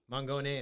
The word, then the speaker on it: Mangone: Mangone is proper pronunciation.